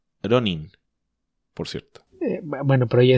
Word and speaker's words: Ronin: Hay gente, los gringos sobre todo, que además en vez de decir Ronin dicen Ronan. No se les puede pedir demasiado. Que además debiera ser Ronin, por cierto.